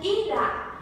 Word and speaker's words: irá: E a palavrinha irá é uma pronúncia aberta por possuir o acento agudo.